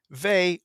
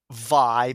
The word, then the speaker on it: Vay: was completely surprised because Vay, or some people pronounce it Vi because of how the Japanese kana is written. I usually said Vay because when I see Vay, I immediately pronounce it like Bay or something.